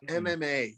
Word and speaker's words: MMA: about fighting or um a mamma ma how do you say it mama yeah uh mma is what it's called jordan oh mma that's